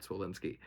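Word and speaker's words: Zwolinski: Damassie and uh Matt Zullinsky. I always get his last name wrong, but I'm pretty sure that's right. Matt Solinsky.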